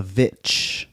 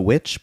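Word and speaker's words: VVitch: this movie uh the vitch have you seen it no it's like every time I talk about it they say it's the witch but it's spelled vvi t c h i don't think I've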